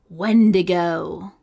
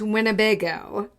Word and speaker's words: Wendigo: My episode, my topic is the Wendigo. Wendigo. Not Winnebago.